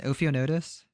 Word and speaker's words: Ophionotus: But Okay, so it sounds like how do I pronounce the oaths? Ophionotus? Yeah, that's perfect.